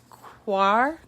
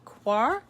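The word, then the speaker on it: coir: one of those and i always mispronounce it the quarre quoi it's c-o-i-r door mats um where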